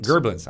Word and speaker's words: Gerblins: And Gerblins. Gerblins, I'm sorry. Yes, you must pronounce it with the Gerblins.